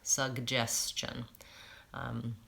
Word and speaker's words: suggestion: little bit hard because I'm going from the G sugg to the Jay Jay suggestion I'd say that's probably what's causing some difficulty there with that word I'll make a note